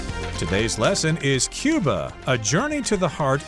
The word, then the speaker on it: Cuba: and we're traveling to Cuba in today's lesson or Kuba you could pronounce it either way this is an island